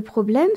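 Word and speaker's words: Problem: dans le mot problème remarquons que c'est la deuxième syllabe qui est accentuée c'est souvent le cas quand on a un mot qui vient du français le français est une langue dans dans laquelle on accentue souvent la dernière syllabe des mots quand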